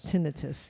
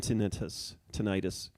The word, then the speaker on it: tinnitus: Even the American Tinnitus Association, also known as the ATA, can't decide. They say both pronunciations are correct. Yeah. They say. But for the record, they use tinnitus.